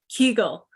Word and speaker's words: Kegel: I was like, how do you pronounce Kegel? Because my whole life I pronounced it Kegel. And that's not incorrect. It's fine. Oh, okay. All right. Matter. You can still say it that way.